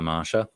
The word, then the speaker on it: Masha: masha but they passion it's spelt masha but they call her marsha um she runs this